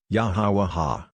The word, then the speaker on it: Yahweh: For a start, I know of no better way to say his name than to say Yah, Ha, Wah, Ha, Yahweh.